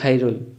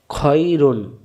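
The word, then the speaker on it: خَيْر: খ জবর খ, খ মিলবে এর সাথে খই, রব পেশ রু, রু মিলবে নুনের সাথে রুন, খয়রুন, খয়রুন না খাইরুন, খাইরুন বলা যাবে না, উচ্চারণ হবে খয়রুন।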